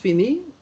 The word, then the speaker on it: fini: It's pronounced fini, and the way to write it, F-I, yes, N-I, and what comes afterwards?